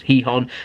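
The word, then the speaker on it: Gijón: that he was set to sign for sporting heon some uh it's pronounced heon by the way but it's spelled gon g i j o n but it's heon over in Spain on a season long loan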